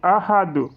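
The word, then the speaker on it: أحد: Donc en fin de verset, on dit ahad. Donc ici le calcol ça s'applique parce que tout simplement en fin de verser le dal se prononce comme un secoun. Le dal porte le sucoun.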